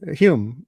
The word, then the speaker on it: Hulme: not too hot uh talking with Mike home Hume right you pronounce it humans at Cambridge University in England